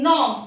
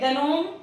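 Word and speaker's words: gnome: Likewise इन नॉम, इसे नॉम पढ़ते हैं, गनोम या जनोम नहीं पढ़ते हैं, इसे हम सिर्फ नॉम पढ़ते हैं क्योंकि जी साइलेंट है।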